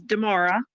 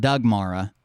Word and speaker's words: Damara: My name is Damara. Yeah, Mark would have never got that. He barely got Doug Mara. I live in Fredericksburg, Virginia. Lifelong. But it's spelled like Doug.